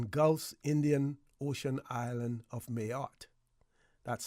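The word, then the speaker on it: Mayotte: citizenship Ral in Gulf Indian Ocean island of mayot that's spelled m a y o t t mayot French okay says a spec of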